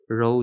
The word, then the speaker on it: rho: Rho denoted by this one. Rho. Ito pag-pronounce sa iya.